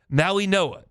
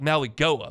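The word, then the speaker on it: Mauigoa: So, like if they took Francis because it's not pronounced like it says, so I have to look. Maui Noah. It's It looks like Maui Goa, but it's Maui Noah.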